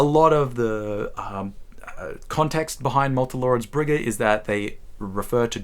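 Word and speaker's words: Malte Laurids Brigge: Rilke's The Notebooks of Malte, Laurids, Brigge, and actually pronouncing it correctly this time. I made a whole video on this where I said Malte, Laurids, Brigge, but starting with the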